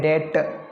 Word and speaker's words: debt: फिर DEBT, ये डेप्ट नहीं, इसमें बी साइलेंट है, डेट।